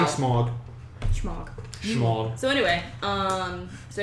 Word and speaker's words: Smaug: It's pronounced Smog. Smaug? It's spelled out smog, but it's Smaug.